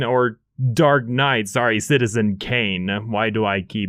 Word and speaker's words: Citizen Kane: I'm sorry if you were expecting the next citizen gain or dark night sorry Citizen Kane why do I keep mispronouncing it the what were you expecting it's